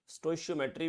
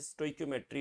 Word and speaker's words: stoichiometry: स्टोइशियोमेट्री भी बोलते हैं लोग, है ना, but exact pronunciation is स्टोइक्योमेट्री of chemical reactions.